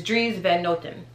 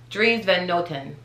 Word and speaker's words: Dries Van Noten: the time together but the proper pronunciation is dries van notten dreams van gnotten um that at the end that's really like a ten so dries then nothing dreams van noten see when you say